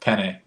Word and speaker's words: penne: sitting together, and she's like, "Man, I love peenie pasta." I'm like, "What the hell are you talking about? Damn. Peenie." So, how do you? Okay, what's the inflection? How do you say It's it? penne.